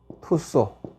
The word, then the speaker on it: Tussaud: 마담투소라고 하는 데가 있습니다 마담 투쏘 혹은 토스 이렇게 하는 스펠링은 뭐 마담 터서 마담 투쏘라고 하는데 내가 이제 런던 시내